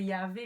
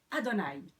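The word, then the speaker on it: יהוה: Que certains prononceraient Yahvé, mais ce qui est tout à fait irrespectueux dans la tradition juive, qu'on prononcerait Adonai.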